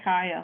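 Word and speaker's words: Kya: And how did you guys pronounce her name? Is it Kaya? Kia? Did you guys? Yeah. I said Kaya. Kaya. Yeah. Okay. Kaya.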